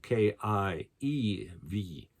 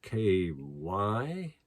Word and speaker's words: Kyiv: And now they're spelling it on maps as K-Y-I-V. And it's my understanding that the Russians have always kind of pronounced it as Kiev, but the Ukrainians call it Kyiv.